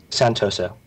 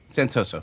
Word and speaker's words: Santoso: last name for me santoso santoso so pretty much exactly how it's spelled like a could have could have read your name and said it right yes Alex santoso who